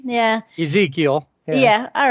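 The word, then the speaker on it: Ezequiel: Ezekiel.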